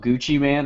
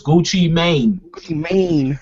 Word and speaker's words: Gucci Mane: has more music out gucci man or tech9 oh god um probably gucci man like stupid probably still gucci listen you pronounced it wrong is gucci mane yeah gucci mane that's